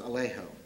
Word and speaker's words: Alejo: We softened the vowel, and we came up with Alejo, which also rhymes with Trejo, which also rhymes with Vallejo, the great Peruvian poet who we so passionately admired.